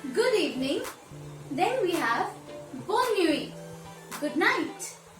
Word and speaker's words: bonne nuit: Then we have Bonne nuit, good night. Bonne nuit, good night.